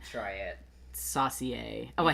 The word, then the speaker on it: saucier: Saucier.